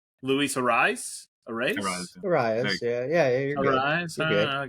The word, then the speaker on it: Arraez: Am I pronouncing that right? Luis Arraez? Arraez, yeah, you're good.